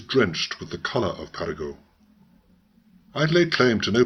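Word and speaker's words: Paragot: is the story of Perrigo the beloved vagabond please pronounce his name French fashion and if I have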